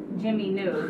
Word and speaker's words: Jiminu: Now, Jimmy New is not spelled like Jimmy New.